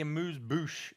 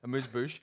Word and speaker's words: amuse-bouche: It's the amuse bouche of the evening.